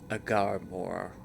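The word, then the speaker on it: Agamaur: Oh, I was pronouncing it wrong. It's Agar Moore based off of how that guy said it, which was a voice over by Gandalf.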